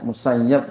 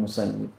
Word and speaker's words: Musayyib: bagi duit Wana Said IBN musayyib boleh bacanya musayyab juga boleh dan adalah Said bin musayyab guru-guru saya macam-macam bacanya ada yang musayyab ada yang musayib kalau yang dari kampus-kampus biasanya bacanya musayib kalau dari Masik itu bacanya musayab rahimahah taala belia berkata